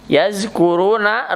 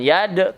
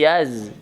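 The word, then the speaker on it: يَذْكُرُونَ: Ya, yazkuruna rumad tabi'i, itu za ya, jangan yad tapi yaz.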